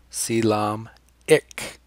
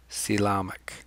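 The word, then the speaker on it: coelomic: them see lamech vesicles here's a pronunciation guide see Lomb like tom silom ik Salam ik Salam ik it forms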